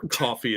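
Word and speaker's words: Ko-fi: I do have a co Phi as well or coffee as some people pronounce that link is right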